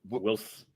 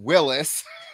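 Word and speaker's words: Whilce: I always called him Willis. Wills. Yeah. Not Willis.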